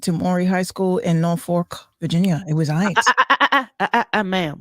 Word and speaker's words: Norfolk: When I was a kid, I thought it was Norfolk too, because I was that kid who pronounced every single letter. But no, it's Norfolk. I got it. Yeah, not Norfolk.